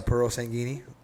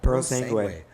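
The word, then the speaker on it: Purosangue: Not even a Puro Sanguini? What's it called? Puro Sanguini? Puro Sangue? Sergadici? Puro Sangue? Paratelli. How do you pronounce it?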